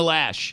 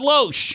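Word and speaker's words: Loesch: still to this day still can't pronounce Dana lash it's not low SH and she's not the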